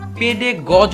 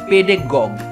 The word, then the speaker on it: pedagogue: তো এই ওয়ার্ডটাকে অনেক সময় ভুলভাবে পেডে গজ উচ্চারণ করে থাকা হয়, বা পেডে গজ উচ্চারণ করে থাকে অনেকে। বাট এটার এক্সাক্ট উচ্চারণ আসলে পেডে গজ না, ইটস পেডে গগ, পেডে গগ।